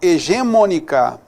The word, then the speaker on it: hegemônica: Na realidade, o correto é hegemônica, não é? Hegemônica, está errado isso daí. Hegemônica. Então, em hegemônica, que está errado, há um erro de acentuação, sim. Considerando necessário para que haja nela correção gramatical, aí o que é o ideal aí para que haja nela correção gramatical? Fazer o que a gente fez aqui, ó. Hegemônica é uma palavra proparoxítona, né?